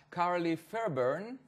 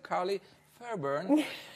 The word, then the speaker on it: Carlie Fairburn: אוסטרלית, מדהימה שנחתה פה לא מזמן, קוראים לה קארלי פיירברן, נכון? I said it right? You did. With the accent, קארלי פיירברן.